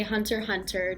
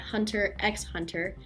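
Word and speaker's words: Hunter × Hunter: black clover or even hunter hunter and yes I say hunter hunter not hunter x hunter Hunter hunter is the only proper way to say it that is but no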